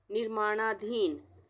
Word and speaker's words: निर्माणाधीन: तो यहाँ पे निर्माणा, र के लिए ये रेफ की मात्रा लग गई, और उसके अरणा आ की मात्रा, निर्माणाधीन।